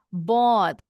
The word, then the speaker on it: bought: Contohnya bought membeli gh-nya di tengah di dalam kata silent.